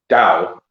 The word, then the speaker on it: Tao: just what it is it's a soft tea um so it's dao and so so it's